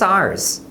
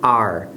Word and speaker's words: our: Porém, no dia a dia, quase sempre você vai ouvir eles pronunciando are, com a mesma pronúncia do verbo to be, né, de you are.